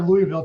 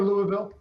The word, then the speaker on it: Louisville: is it Louisville or Louisville uh dropped the eye out of this just uh it just comes from way back in your throat Louisville Brett I don't